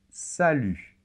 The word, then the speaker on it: salut: pu très bien et attention la lettre t final ne se prononcent pas et ça c'est très